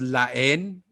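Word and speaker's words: La Haine: expect a happy ending um but it's called la en which is spelt uh la for the and then n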